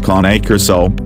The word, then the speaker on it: Cane Corso: struggling to choose between a Cane Corso, phonetically pronounced as KAH-NAY KOR-SO, and a Dogo Argentino,